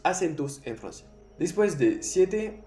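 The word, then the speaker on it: sept: Aquí puedes ver un P. El P no se pronuncia. 7.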